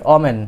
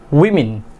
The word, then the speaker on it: women: ওমেন। বাট এটার correct pronunciation is উইমেন। হতবাক হওয়ার কিছুই নেই, আমরা ছোট সময় থেকে কি ভুল শিখে আসছি। Correct pronunciation is we mean, simply women।